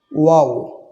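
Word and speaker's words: واو: এটি উচ্চারণ হয়ে যায় ওয়াও ওয়াও বলার সময় এটি একটু দীর্ঘ হবে ঠোঁটটি হালকা গোল হবে গোল করতে পারলে গোল করে এটির উচ্চারণ হয় গোল করে এটির উচ্চারণ করা লাগে যেমন ওয়াও ওয়া ঠোঁটটি একটু গোল হবে ওয়াও দুই ঠোঁট গোল করে ওয়াও উচ্চারিত হয় আমরা এটি ঠোঁট গোল করলে এটির সঠিক উচ্চারণ হয়ে যাবে ওয়াও এরপরে হা এটি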